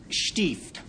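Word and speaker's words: Stift: Yes, stieft. I pronounce it thus because it's a German word, and it describes that area of land that was under the overlordship of a medieval bishop.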